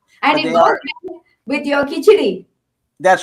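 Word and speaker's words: khichdi: I think it's a D, not an R, right? It's a Kitchedi, yeah. But there are people who say Kitcheri also, and that's how I know it. My mom as well. Yeah. So whether she pronounced it Kitcheri or I heard it, that's what I know it as. But every other Indian person I've talked to says it's Kitchedi.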